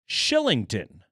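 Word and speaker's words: Kylington: help with that uh how how do we get that pronunciation from that spelling I don't know but uh shout out to to our friends at Avalanche PR Who provided us a pronunciation Shillington yeah to a one-year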